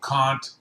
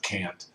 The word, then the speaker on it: Kant: And of course, the big famous guy there is Immanuel Kant, who that's how you say his name. It's not Kant.